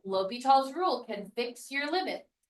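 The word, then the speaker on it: L'Hôpital: later in your packet, but it was called L'Hopital's rule. So if you'll write that up here at the top, it's spelled L'Hospital.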